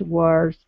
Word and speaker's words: words: And now even she was gone, her mother's words kept coming back to her. Okay. Very nice job. Very good. Okay. Uh let's go to Whoops. The word words. Okay. Make sure to pronounce that D.